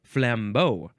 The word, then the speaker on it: flambeau: Next we have flambeau. Actually, the emphasis is on the first syllable. Flambeau. Like Rambo? Rambo covered in cognac and lit on fire?